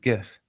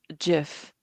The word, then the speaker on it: GIF: But what is your take on how to pronounce the word GIF? I pronounce it like gin.